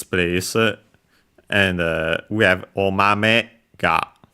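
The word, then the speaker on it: お豆: And we have omame ga. So after the me, the accent falls, is lower.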